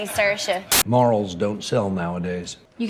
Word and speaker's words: Saoirse: Oh, you say Saoirse.